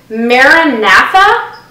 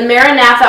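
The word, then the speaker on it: MaraNatha: mood I'm in um the maratha that's that's how we're pronouncing it the maratha all natural um almond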